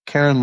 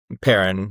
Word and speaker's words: Perrin: Karen Larton? Is that how you pronounce it? Perrin with a P.